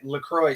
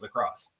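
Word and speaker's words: LaCroix: know if this is true but they said lroy sparkling water is not pronounced lroy it's pronounced lacrosse who said that n that's that's a tickt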